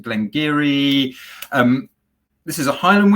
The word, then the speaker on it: Glen Garioch: that we should expect absolutely so it is glengiri so glenn garioch as it says on the label pronounced glengiri um this is a highland whiskey it comes